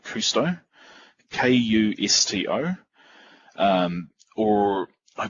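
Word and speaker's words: Kusto: the so these these queries use the anonymous pronounce this but it's called cousteau kay you sto or I believe it's also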